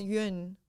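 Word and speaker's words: Yun: also pronounced mish no it's pronounced yuen y-u-n and then the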